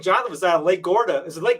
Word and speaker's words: Garda: when I think Jonathan was out of Lake Garda. Is it Lake Garda?